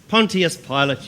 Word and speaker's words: Pontius Pilate: okay sit sit and it's Pontius Pontius Pilate you fool it's bad enough I have to be in this backwater without imbeciles like you mispronouncing my name always proud to be